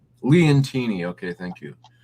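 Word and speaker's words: Leontini: This Sicily Leonati. This was a very mintstate looking coin. I wasn't too fascinated by the art, but I thought it was very well struck. And yeah, that's pronounced Leantini.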